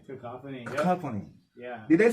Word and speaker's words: Cacophony: Cacophony.